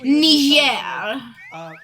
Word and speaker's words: Niger: It's pronounced Niger or French Ner.